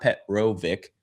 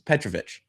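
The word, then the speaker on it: Petrovic: It's not Petro Vic, it's Petravvic.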